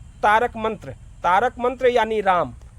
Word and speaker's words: राम: ओम, इसी ओम के पहले, इसी ओम के पहले आप र लगा दीजिए, यानी राम।